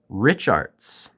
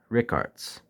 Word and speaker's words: Richartz: kind as to focus Rich arts and if you're going to try another pronunciation maybe Rick Arts but nonetheless this brand